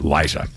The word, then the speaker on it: Liza: to call me said, "No, no, no, it's Liza."